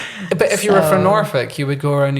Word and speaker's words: Norfolk: then I was like, "See, as a Norfick folk singer, I'm feeling comfortable with this." But if you were from Norfick, you would go around and you say, "I'm a folk singer."